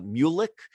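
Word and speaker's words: Muluc: was was for uh i think it's pronounced uh mulik m-u-l-u-c if anyone's familiar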